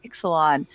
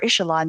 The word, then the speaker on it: Ixalan: Was a Magic the Gathering story for the Lost Caverns of Ixalan, or Ixalan, depending on who's pronouncing it.